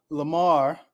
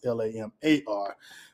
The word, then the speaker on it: Lamor: so um it's bishop lamar whitehead which is interesting my name is lamar but his name is spell l-a-m-o-r mines l-a-m-a-r but pronounced the same way i presume bishop lamar